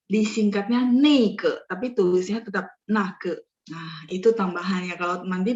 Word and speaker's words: 那个: Silakan dihapus dulu, biar saya bahas yang nake sama neike ya, oke. Sudah? 好了吗? Sudah di screenshot? Sudah, 可以呀, oke. Nah, secara resminya emang dia bacanya nake ya, nah ke itu, ya enggak?